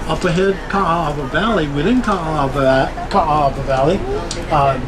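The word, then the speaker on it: Kaaawa: a a a w so remember A's have a a sound you've got three A's so you to pronounce it three times and again the W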